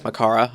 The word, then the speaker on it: Makara: It's Makara, I understand. Or at least that's how I pronounce Gamzy's last name.